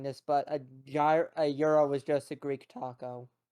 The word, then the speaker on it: gyro: well, okay, you're probably gonna hate me for saying this, but a euro is just a Greek taco. Yes. You Mm, mean a gyro? Euro. It's pronounced Euro.